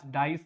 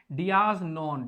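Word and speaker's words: dies non: now इसकी pronunciation है dias, डाइस नहीं है ये, dias non।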